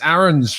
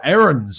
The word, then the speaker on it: Aarons: as we talk about Max Aarons, or Aarons I should say, from Norwich City.